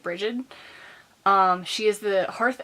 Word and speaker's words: Brigid: celebration for the Celtic goddess Brigid or breed depending on however you want to pronounce it I pass at bridgid um she is the